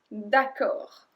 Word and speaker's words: d'accord: Numéro 6, alright, d'accord, d'accord. And we don't pronounce the D at the end, and d'accord is one word.